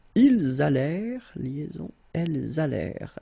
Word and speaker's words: allèrent: Ils allèrent, liaison, elles allèrent. And then this ENT at the end, you know, the mark for the plural. Well, clearly you don't pronounce it, so you get allèrent.